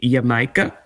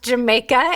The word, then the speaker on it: Jamaica: And then and then, uh, there's the marcado de yamika. Um, also pronounced Jamaica. Um, it is not pronounced Jamaica if you're in Mexico.